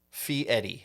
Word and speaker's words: Fieri: Fieri is how you pronounce it.